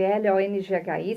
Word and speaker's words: Longhi: Lembrando que o Long se escreve L-O-N-G-H-I.